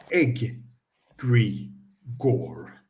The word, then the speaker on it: egregore: so on page 522 an egregor pronounced egg Gore is a group thought